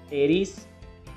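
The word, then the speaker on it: Pteris: टेरिडोपसीडा जिसके एग्जांपल में है ड्रायोप्टेरिस, टेरिस, एडिएंटम। टेरिस में भी पी साइलेंट है, ड्रायोप्टेरिस में भी पी साइलेंट है।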